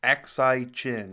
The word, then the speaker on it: Aksai Chin: Independence, partition और first India Pakistan Kashmir war के बाद से ही, जबकि ऑक्यूपाइड लद्दाख यानी अक्साई चीन Aksai Chin. Yeah, okay, that's how you pronounce it.